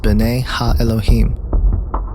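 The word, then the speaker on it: בני האלוהים: of God mentioned here in the Hebrew is pronounced Bonet ha Elohim the Septuagint which is the Greek translation of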